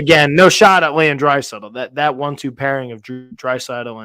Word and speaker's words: Draisaitl: How the hell do you pronounce his last name? It's like Phil. It's Leon Draisaitl.